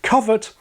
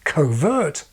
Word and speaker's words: covert: A less reasonable mistake was to decide that the adjective covert, related to the verb cover, is somehow a negative form of overt and should therefore be pronounced covert.